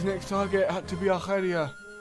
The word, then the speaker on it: Arcadia: His next target had to be Arcadia. I'm only pronouncing it like that because, well, there's a region in Greece called Arcadia.